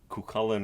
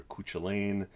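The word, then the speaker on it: Cú Chulainn: up crossing paths with kukulen or kuchilain again this is another potato potato pronunciation of one of the greatest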